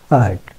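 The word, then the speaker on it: heard: যে past form উচ্চারণ হার্ট, তো এটাকে কীভাবে উচ্চারণ করে? হিয়ার্ড। এটা হিয়ার্ড না, ইজ হার্ট।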